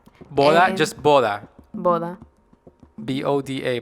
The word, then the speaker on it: boda: We have boda. Boda, and- just boda. Boda. B-O-D-A, boda. B-O-D-A. Boda.